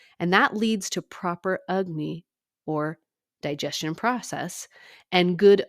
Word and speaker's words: Agni: be vitamin deficient so ayurveda calls the digestion process ugne it's spelled Agni so it doesn't really look like how it sounds but in ayurvedic treatment